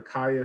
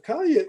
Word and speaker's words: Caya: mentioned earlier in the introduction about the the kaya c-a-y-a golf app am i pronouncing that right kalia yeah yeah so could